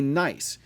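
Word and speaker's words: gneiss: rock is called a nice the g is silent and is characterized by the foliated light and dark bands of minerals that we call nysic banding nice is a product of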